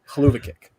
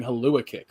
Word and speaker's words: hell of a kick: It's 100% hell of a kick, but it's smashed together to be Haluva kick. Yeah, but it's spelled hell of a. Yeah. Because he was saying Halua kick for the longest time,